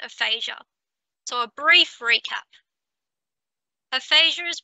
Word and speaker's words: aphasia: Aphasia is pronounced aphasia.